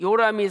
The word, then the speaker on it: 여호람: 다음에 두 번째로 이 요람이 살았던 그 시대의 여호람 이 여호람 길게는 여호람 이라고 발음하고 이걸 압축하면 요람 이렇게 되죠 이 요람에 의미를 이름의